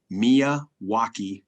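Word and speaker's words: Miyawaki: the milwaukee method mia wacky method spell it phonetically and you'll get it right m-i-m-i-k-m-i-y-a-w-a-k-i milwaukee method and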